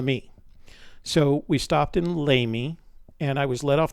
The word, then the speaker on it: Lamy: the people pronounce it lamey but it's named after an archbishop in santa fe but it's french so it's actually pronounced la me so we stopped in lamy and i was led